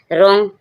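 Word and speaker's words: wrong: W silent होता है रॉन्ग रॉन्ग रॉन्ग means गलत आर जब डब्ल्यू के बाद आर आएगा तो रोंग क्या होगा डब्ल्यू साइलेंट हो जाएगा डब्ल्यू का कोई साउंड साउंड नहीं आएगा।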